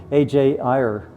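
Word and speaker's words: A. J. Ayer: Sir AJ er that's how you say his name.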